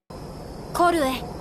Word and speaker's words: Koei: Yes, this is exactly how it's pronounced. Korue.